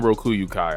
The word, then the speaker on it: Rokuyukai: Team Urameshi versus Team Rokuyukai. I finally pronounced it right.